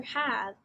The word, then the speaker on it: have: the letter sounds for have the h makes the sound the a makes the short a sound the v makes the v sound and the e is silent so when we put